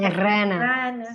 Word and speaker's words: Serrana: Es tan difícil porque es con dos R's, ¿viste? Serrana, Serrana, serrana.